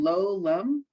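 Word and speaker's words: לעולם: The I is silent, the lam, it has to go with it. It has to be connected to the O. So it's lo lam, Lo, but it's not a word I know.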